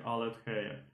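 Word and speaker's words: ἀλήθεια: Aletheia, ale my to budeme číst tou erasmovskou výslovností, tou, jako řekněme, evropskou, takže aletheia.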